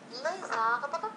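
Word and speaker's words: les arbres: لنا نوع الاسم كلها نقوم بليزون أوبليغاتوار يعني الربط الإلزامي. أن أغبغ ولا نقول أن أغبغ داكوغ أن أغبغ. إذا أن أغبغ ليز أغبغ لاحظوا هنا ليز أغبغ des arbres, aux arbres, un immense arbre.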